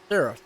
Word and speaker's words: Sarthe: We know it by Le Mans, but it's called Circuit de la Serre. And I think I might pronounce that last part. I'm pretty sure you did. Yeah, Sarah. It's Sarthe, what it is.